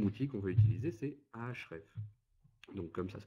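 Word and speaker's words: Ahrefs: moi le deuxième outil qu'on va utiliser c'est ahref donc comme ça se prononce ah h r e f s euh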